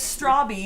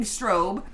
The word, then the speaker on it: Stobby: shorts to school and my last name is stobby but often mispronounce as many things including strobe and my birthday happened